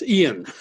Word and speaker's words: Ian: It's okay, but the correct pronunciation is Ian.